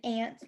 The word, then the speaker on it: aunt: We have ant, like the insect, that's spelled A-N-T, and aunt, like your mother or father's brother or sister, that's spelled A-U-N-T, right? Those are homophones because they sound the same with our ears.